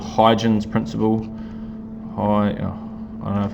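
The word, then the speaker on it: Huygens: want to look it up there's something called hydrogen's principle i don't know if i'm spelling it pronouncing it chronicle it correctly it is spelled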